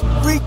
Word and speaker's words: Reek: Call me Reek rhymes with freak, Reek rhyme with sneak.